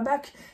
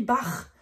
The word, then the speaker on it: Bach: ça se dit pas Bach, ça se dit Bach, puisque c'est le A-C-H derrière. Donc ça s'écrit B-A-C-H, donc Bach, avec bien le R.